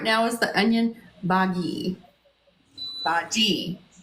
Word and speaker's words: bhaji: Bhaji, with a hard G.